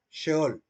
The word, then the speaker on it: Sheol: Se debe pronunciar Sheol. Algunos dicen Sheol porque ven la letra S, pero lleva un símbolo en la parte de arriba para hacer referencia a la SH inglesa.